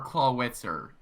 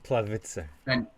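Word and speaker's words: Clawitzer: either wormadam okay or claw witzer i think that's how you say his name clavice you need to be german it's because i've done research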